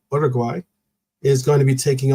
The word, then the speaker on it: Uruguay: Because Uruguay, actually, pronounce it correctly. Uruguay is going to be taking on Colombia today, and they are going to also have Ecuador as the game.